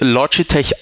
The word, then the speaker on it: Logitech: englisch sprechen nämlich mit logitech es wird aber im englischen korrekter weise es wird logitech ausgesprochen ist ist so ich weiß